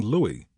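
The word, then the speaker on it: Louis: So Shrivever started wooing Louie L O U I S pronounced Louie E Martin with the aim of persuading him to join the team.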